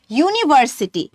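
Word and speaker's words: university: যেমন হচ্ছে ইউনিভার্সিটি। এখানে কিন্তু ইউ দিয়ে আ উচ্চারণ হচ্ছে না।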